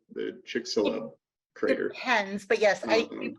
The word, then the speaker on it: Chicxulub: Hello, the X is an H sound, right? The Chicxulub crater.